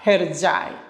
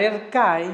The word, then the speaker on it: Hercai: Lo mejor de lo mejor fue llegar a Hercai. Cuando yo llego a esta serie, a la que le puedes llamar Ercai, ¿no? Es más fácil porque es la pronunciación en español, ¿no?